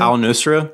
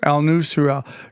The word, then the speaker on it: al-Nusra: How how do you pronounce it? Al-Nusra. Al-Nusra.